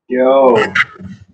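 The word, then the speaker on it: 九: Can you pronounce it? Jiǒ.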